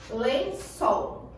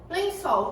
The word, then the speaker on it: lençol: Exemplo, lençol. Lençol, qual é a sílaba mais tônica da palavra? A que eu puxar, a que eu fizer mais força na hora da minha pronúncia. Lençol. Qual foi a que eu fiz mais força na hora de pronunciar? Sol.